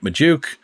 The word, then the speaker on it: Magdziuk: Joining me to do just that is my friend Magdziuk, whose last name we have confirmed rhymes with Ayuk, even though Brandon Ayuk is not going to her beloved Steelers, it looks like.